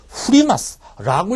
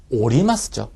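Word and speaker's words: 降ります: 보실래요 예 이거 아마 덴샤 후리마스라고 읽은 분들이 계실 겁니다 예 그러시면 안 됩니다 여러분 이거는 샤오 오리마 스죠 예 원형이 후가 아니라 오리루 내리다 있죠 그 오리가 이렇게에 오리마스 이렇게 되는 겁니다 그죠 예 그래서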